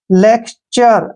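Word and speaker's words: lecture: ई ठीक है ना एल ई का उच्चारण ले करेंगे सी का उच्चारण क करेंगे और टी का उच्चारण च करेंगे और ज यू आर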